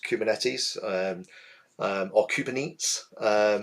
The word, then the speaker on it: Kubernetes: from a previous company used to call it kubernates and it was hilarious um I told him a few times it wasn't cold it's pronounced kubernetes um or kubernetes it's another one I've heard